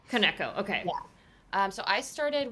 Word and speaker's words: Koneko: How am I meant to pronounce it? I've been saying it wrong this whole time. It's Koneko. Koneko, okay.